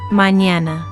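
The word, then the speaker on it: mañana: mñana manñana mñana here is the physical mechanism your tongue touches the roof of your mouth in the same position as the English N but at the same time you raise the middle part of your tongue toward the roof of your mouth which creates that Y quality and you push air through your nose not your mouth.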